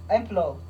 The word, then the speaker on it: implore: एम्प्लोर. एम्प्लोर, ये इसको हम एम्प्लोर लिखते हैं, IMPLORE, एम्प्लोर, लेकिन इसको हम प्रोनाउंस एम्प्लो करते हैं. एम्प्लो, इसको हम प्रोनाउंस एम्प्लो करते हैं. R ई साइलेंट है.